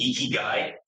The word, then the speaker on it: Ikigai: It's Ikigai.